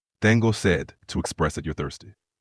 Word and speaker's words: sed: say I am thirsty you would say Dango said to express that you're thirsty Tango said yes